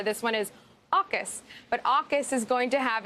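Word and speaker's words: AUKUS: but this which is going to be known as say it with me aukis which is australia the uk and the us but in a lot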